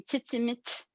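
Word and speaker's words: Tzitzimitl: So Tzitzimil, you would actually say her name Tzitzimit, which is Nahuatl, which is the language of the Aztecs and Mayans.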